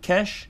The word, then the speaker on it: cache: personally store the cach I think it's actually pronounced cash I call it cache